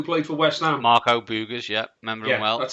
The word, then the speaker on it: Boogers: Marco Boogers, yeah.